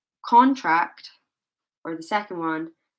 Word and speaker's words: contract: or the second one contract. Which one? In which example did I place the stress on the first syllable? Yes, number one. Okay, so I placed the stress here. Contract rather than contract.